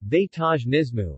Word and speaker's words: vegetarianismo: have a basis as in canada vegetarianismo portuguese pronunciation vaitaj nismu is usually synonymous with lacto-ovo vegetarianism and vegetarians